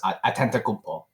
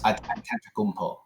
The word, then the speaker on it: Antetokounmpo: Yes, Giannis Antetokounmpo. Wait, I thought Giannis Antetokounmpo. Antetokounmpo. Do you need me to spell it for you?